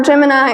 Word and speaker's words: Gemini: notable we go to our Gemini or jiminy project I'll use those both interchangeably it's just a difference of pronounciation Gemini improved on the